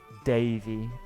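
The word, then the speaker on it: Daveigh: Pronounced Davey. I gotcha. Davey Chase.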